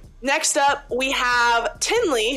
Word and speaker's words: Tinley: next up we have Tinley who rhymes with Kinley in the last video